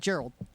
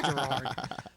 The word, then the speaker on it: Gerard: Is that how you pronounce his name, or is it Gerald? Gerald. Gerald? Jerry. Jerry. No, it's not. It's Gerard.